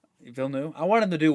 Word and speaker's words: Villeneuve: Villeneuve. Villeneuve.